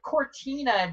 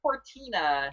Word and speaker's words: Cortina: It is spelled exactly how it's said. I have zero phonics skills. I cannot say a word and convert it into letters. Core, so COR, Tina, TINA.